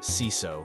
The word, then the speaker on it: CISO: One of my nicer and longer-term clients called to tell me about their new CISO, pronounced CISO in case you care.